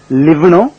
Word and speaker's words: live: அதாவது LIVEன்ற வார்த்தைய லிவ்னு உச்சரிக்கலாம், லைவ்னு உச்சரிக்கலாம். லிவ்னு உச்சரிச்சா வாழுன்னு அர்த்தம், லைவ்னு உச்சரிச்சா நேரடின்னு அர்த்தம். லிவ் ஆர் லெட் லிவ், வாழு அல்லது வாழ விடுன்னு லாரிக்கு பின்னால போட்டிருக்கோம்.